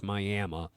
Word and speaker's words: Miami: Yes, Miami, spelled Miami, but pronounced Miami.